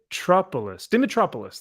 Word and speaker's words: Dimitropoulos: Dimitropoulos. I think it's missing a vowel. I feel like it's missing an I. Dimitropoulos. There we go. Right. It sounds very Greek. Absolutely. Dimitropoulos.